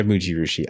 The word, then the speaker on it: Mujirushi: I read Mujirushi. Mujirushi? Mujirushi? Right? Yeah, you said it right. Yeah, Mujirushi.